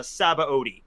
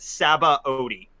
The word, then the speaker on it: Sabaody: is not accurate the dub goes with uh saba odi so that's what i go with saba odi i just change my pronunciation of it every time just to confuse